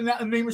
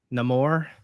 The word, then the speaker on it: Namor: Namor, is that it? I think yeah, the way to pronounce it. Yeah, it has like a vaguely Mesoamerican inflection to it.